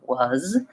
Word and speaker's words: was: saying to yourself well isn't that an S it's spelled with us was is use these even though these are spelled with letter S or letter se they all have the Z sound so I might be